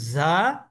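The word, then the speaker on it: ز: আপনার এটুকু মনে না রাখলে সমস্যা নাই, বরং আপনি উচ্চারণটা বাংলা ঝয়ের মতো করতে পারলেই হলো।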